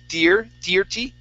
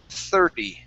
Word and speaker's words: thirty: Now here you said thirty. Okay, the IR is actually pronounced like an ER. 30.